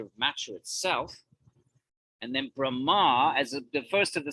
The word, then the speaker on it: Brahma: for the absolute truth Brahman but there's a Celestial who confusingly until until someone tells you is called Brahma with a long a not with an N he's a Celestial